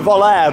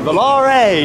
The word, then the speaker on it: Volare: he's definitely a zampala volare so i've just been pronouncing it wrong you've got to think they are an italian company so it's more like volare you know let's go